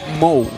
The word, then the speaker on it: Mo: Actually, Mo, we should pronounce. How do you say it? Moo, Mo, Mao? No, Mo, it's like it's like a cow, but it's Mo.